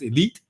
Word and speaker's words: E1337: brand is once again it's e1337 we usually pronounce it as elite so e-l-i-t-e which is a traditional hacker form or hacker writing style and eventually launch a